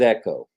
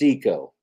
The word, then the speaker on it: echo: Uh, I thought it was echo. So it's eco. And I now have come to the realization that I was WRONG incorrect in my pronunciation.